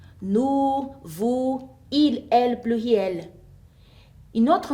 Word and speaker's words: vous: Faites attention qu'on ne prononce pas les consonnes finales. Nous, vous, il, elle, pluriel.